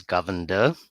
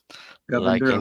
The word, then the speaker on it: Govender: It's just the pronunciation of my last name is Govender. Govender. Okay, thank you. Just like to be the governor, but not not at this stage.